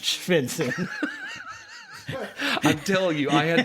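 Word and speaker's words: Stjärnsund: spell this for you let me spell how shenson is spelled shenson s t j a r n m u n d pronounced oh that's pronounced senson I'm telling you I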